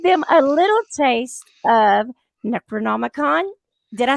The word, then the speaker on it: Necronomicon: Well, we're going to give them a little taste of Necronomicon. Did I say it right? Yes, Necronomicon.